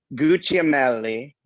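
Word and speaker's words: Gugliemelli: Gucciamelli. Gucciamelli. Oh boy, maybe I'll just Yeah, say like Joe. kind of like Gucci.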